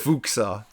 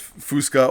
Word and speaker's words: Fuksa: Fuksa. Fuksa. Did I say Fuksa? Everyone does Fusca, or sometimes a lot worse, if you could imagine.